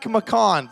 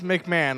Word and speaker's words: McMahon: this can't be real Tim MC Tim MC mcon sorry I absolutely butchered that last name it's McMahon I don't know how